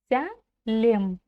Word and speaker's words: Сәлем: Сялем. Все мы помним, что если написана буква то и читается буква Вот так легко и просто.